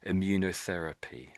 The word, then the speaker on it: immunotherapy: So the first bit is like um immune system immune and you can see this is therapy here at the end. So it's these sort of two words being glued together, immunity and therapy stuck together there.